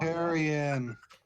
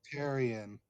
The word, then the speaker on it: Teran: rest or a long tyon am I saying it wrong it's pronounced teron Teran terion sorry Teran